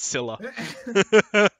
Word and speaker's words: Scylla: owner of Scylla, just tell us how to pronounce it, please. Just write it in the chat for us. It's Scylla. It's Scylla? It's Scylla.